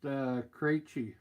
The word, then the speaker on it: Krejci: Name is pronounced Krejci.